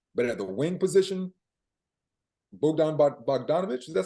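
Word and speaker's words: Bogdan Bogdanović: But at the wing position, Bogdan Bogdanovic, is that how you say his name?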